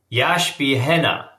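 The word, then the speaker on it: ישבחנה: So, what that means is again, this is a Hebrew yash yash beha. That's how to say it.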